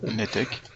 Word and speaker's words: NETEC: Webinaire Netec ou Ntec, je sais jamais comment on prononce. Netec.